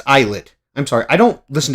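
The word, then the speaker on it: ILLIT: Another opening for Ill or why do I say Illid? It's eyelet.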